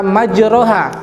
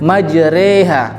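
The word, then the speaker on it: مجراها: tetap dalam kata majroha di tulisannya majroha tapi nanti bacanya majreha itu ada dalam surat hud ayat 41 waqolarkabu movie habis mileni majreha wa mursaha inna Robbi lawful Rohim nah dalam kata majroha tulisannya Tapi bacanya majreha itulah bacaan imalah selanjutnya yaitu bacaan isymam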